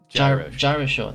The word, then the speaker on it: GyroSean: It's like gyroscope. GyroSean.